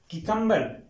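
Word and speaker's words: cucumber: तो स्टूडेंट्स यहां पर कि कंबर कि कंबर य पर की की आवाज आएगी क्य की आवाज नहीं आएगी य कि कंबर लेवा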